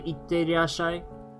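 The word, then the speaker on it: いってらっしゃい: So it is possible to say itterashai, itte, I, ra, shai. Emphasize the t and not the e.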